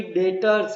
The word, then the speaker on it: debtors: Language में मेरे बच्चे DEBTORS मतलब कि डेटर्स, बी साइलेंट है, बोलना नहीं है, डेटर्स बोला जाता है।